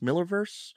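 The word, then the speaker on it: Millarverse: in with the malarverse Miller verse I know it's spelled malar but I know it's supposed to be pronounced Miller I always get confused but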